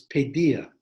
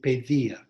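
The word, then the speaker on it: paideia: in ancient greek is pedia p a i d e i a and the original pronunciation was probably pedia that the d had a kind of th sound like when we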